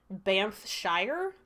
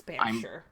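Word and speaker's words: Banffshire: It looks like Bshshire, but it's Bure.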